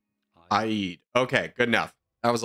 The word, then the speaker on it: Eid: is generally said as Eid Eid although in Arabic this is normally pronounced as Aid okay good enough that